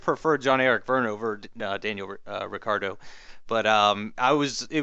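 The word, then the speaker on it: Ricciardo: was ricky ricardo sorry i'm gonna make a conscious effort to try to start calling him ricardo um because he apparently has said that's how it's pronounced so if he says it's ricardo then i'm gonna call him ricardo um but uh he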